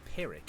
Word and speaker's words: Pyrrhic: do you pronounce it i said ferric but it's actually pyrrhic is it i think it's pyrrhic yeah i reckon it's